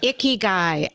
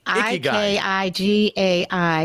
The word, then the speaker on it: Ikigai: Yes, I better pronounce it for you. See what I did there? Yeah. It's called Ikigai. Ikigai.